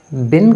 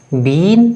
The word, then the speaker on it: been: चीज नोट कीजिएगा कि बिन को बीन प्रोनाउंस नहीं किया जाता उसे बिन प्रोनाउंस किया जाता है सलाम वालेकुम